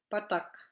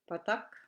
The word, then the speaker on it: patak: And another example that I give here is patak, that's butter, patak, and the other one is pattak, pattak, as in ball.